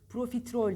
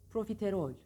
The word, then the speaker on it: profiterol: telaffuz da zorlandığımız da hecelerini ayırın Pro Pro benimle tekrar edin profiterol Pro bakın yine kol çift konsonantlar çık sesi zakro peyniri arasında III Yok ya da uyuyor Pro değil Pro Pro di-pro değil pro-tıp önce sesini verin sonra gelen her şeyi söyleyin Pro profiterol profiterol hızlanın profiterol profiterol bir kelimeyi doğru telaffuz